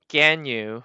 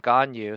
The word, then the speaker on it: Ganyu: Also, I think I heard some Chinese streamers say her name is pronounced more like Ganyu rather than Ganyu, so I've been trying to say Ganyu when I can.